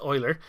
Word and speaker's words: Euler: And what Euler does, it looks like it might be pronounced Euler, but it's actually pronounced Euler.